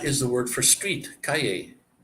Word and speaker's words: calle: That is the word for street, calle. Like it's the two L's are a Y.